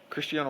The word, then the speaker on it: Cristiano: bit about soccer oh yeah um chrisan Cristiano Christiano Ronaldo you got this am am I saying it right yeah okay Cristiano Ronaldo enter Miami rumors my question to you